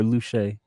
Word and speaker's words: LaCue: that dropped uh sullivan lucas how do you pronounce his last name luke yeah or luche luke okay sullivan luke uh young sullivan ep1